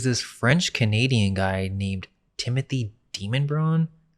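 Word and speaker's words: Demonbreun: And by the 1760s, there's this French-Canadian guy named Timothy Demonbron. The locals pronounce it Demonbrian. It's spelled demon though.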